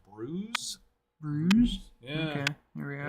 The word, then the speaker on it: Bruges: of Bruges in Belgium which I found out is actually I think pronounced Bruce yeah okay here we